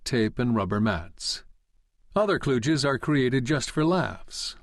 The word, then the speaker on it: kluge: Some spell it with a D, Kludge, which has the virtue of looking as clumsy as the solutions it denotes, but the disadvantage of suggesting the wrong pronunciation. Properly pronounced, kludge rhymes with huge, not sludge.